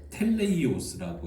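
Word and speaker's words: τέλειος: 여기에서 온전한을 헬라어로 텔레이오스라고 읽어요.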